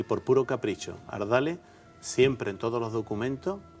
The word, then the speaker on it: Ardales: y por puro capricho ardale siempre en todos los documentos Castellano desde después de la reconquista hasta 1845 se ha escrito col H porque siempre se ha pronunciado con esa aspiración hardal Y todavía de hecho